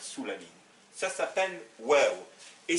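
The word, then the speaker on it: و: Ça s'appelle waw, et ça se prononce ou.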